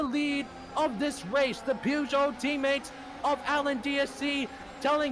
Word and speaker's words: Peugeot: The opportunistic Peugeot driver trying to prove that he belongs. By the way, it's Peugeot. I said it wrong.